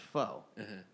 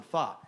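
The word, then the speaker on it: phở: ] morons obviously and they think f is pronounced foe so they they they're 9021 foe right get it it's like no that's 9021 fa it doesn't the pun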